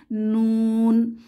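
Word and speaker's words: نون: হরফটির নাম হচ্ছে নুন এই হরফটিও জিহবার রাগা উপরের তালুর সাথে লেগে উচ্চারিত হয় নুন এই হরফটি উচ্চারণ করতে নাকের সাহায্য দরকার নাক ছাড়া নুন উচ্চারণ করা যায় না নুন নুন হরফটি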